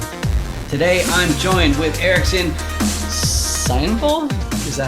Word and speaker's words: Sainval: Sainval? Is that how you pronounce it? That's pretty good. Sainval, yeah. Oh, okay, Sainval.